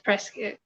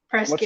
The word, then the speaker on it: Prescott: It's Prescott. Rhymes with biscuit if you're native.